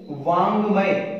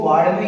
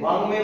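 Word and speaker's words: वाङ्मय: इसका शुद्ध उच्चारण करें तो देखो एक शब्द है वांग्मय, इसको वाड्मय नहीं बोलते, वांग्मय बोलते, क्योंकि जो भी पंचम होगा उसका जो उच्चारण स्थल होगा वो नासिका होगा।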